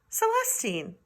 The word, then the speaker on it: Celestine: to read it yourself, her name is actually Celestine. I guess you could pronounce it the other way too. So I like Celestine because then it rhymes with Drama Queen.